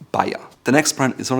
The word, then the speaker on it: Bayer: and most people in the US call it Bayer. However, it's called Bayer. Simply Bayer, which in German has another meaning, which is a Bavarian. Again, it's pronounced Bayer.